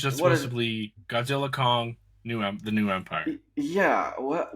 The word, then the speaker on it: Godzilla x Kong: Kong the new Empire apparently said by the director the x is silent it's one of the dumbest things I've ever heard I know me too apparently it's just supposed toly Godzilla Kong the new Empire yeah